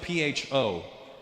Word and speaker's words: Pho: It's spelled P-H-O. Pho. But it's not the way it's pronounced. And in America, people are fucking annoying because I'll be like, yeah, let's go get some pho. And they'll be like, Russell, it's actually pronounced pho. And I'm like, oh, really? Yeah, so, to show respect for the Vietnamese culture, you probably pronounce it pho.